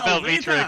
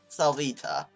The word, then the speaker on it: Salvita: It's gone to Selvita again. Selvita! We should just change it to Selvita, shouldn't we? Yeah, Salvita. You said it wrong again.